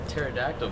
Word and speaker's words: pterodactyl: than that uh yeah why can't you hear a pterodactyl go into the restroom i don't know why because the p is silent all right all right